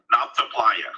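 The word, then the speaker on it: Nabta Playa: heard you talk about the, how do you pronounce it again? The Nalta stone calendar. Yeah, Nalta Playa.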